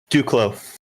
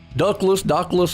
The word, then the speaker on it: Duclos: Dockless or something. Silent S on that name. All right. Well, Duclos.